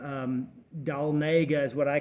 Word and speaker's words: Dahlonega: town but it's got a weird name um doll Nega is what I call it but it's called pronounced Dahlonega and you go in there and it's 25